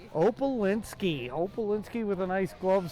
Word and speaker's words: Opalinsky: Pronounce his name. David Opalinsky. Opalinski.